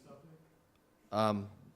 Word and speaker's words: Supnick: My name was mispronounced, Supnick. I didn't see it here, but Mr. Sutnick, if you would approach the podium and that would be great.